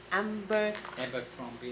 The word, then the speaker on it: Abercrombie: This, and another Narciso, this, and I have a, how do you pronounce this? Abercrombie and Fitch.